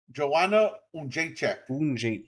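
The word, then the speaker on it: Joanna Jędrzejczyk: Wait, how do you say that? Joanna Unjacek. Okay. Okay, I would have never got that right.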